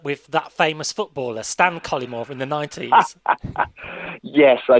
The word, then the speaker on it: Cullimore: I stress the first syllable, Cullimore, and I like the way you sort of stress the first and the third syllables.